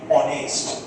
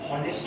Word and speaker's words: honest: ক্যান you tell me the meaning of the word অনেস্ট। হনেস্ট নয় কিন্তু, প্রচুর জনকে আমি শুনেছি যারা হনেস্ট বলে।